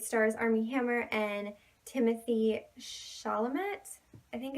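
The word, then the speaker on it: Chalamet: name and it starts armie hammer and Timothy Charlemont I think it's how you pronounce the same and it's an indie movie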